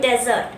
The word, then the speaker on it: desert: Next one इज, इसे हम क्या कहते हैं, डेजर्ट. But this is नॉट डेजर्ट, this is डिजर्ट. This is known as डिजर्ट.